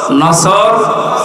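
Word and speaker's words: نصر: আয়াতে না তিনটা সূরা তিন আয়াত বিশিষ্ট আসর নসর কাউসার তার ভেতরে একটা তেলাওয়াত শুদ্ধ অনেকের হয়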